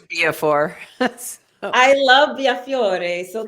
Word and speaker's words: Biafore: Well, you know, it's supposed to be pronounced Biafore, but my parents changed it to Biafore.